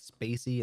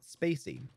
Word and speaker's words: spaCy: and models the good news is modules like Spacey and NLT K which stands for natural language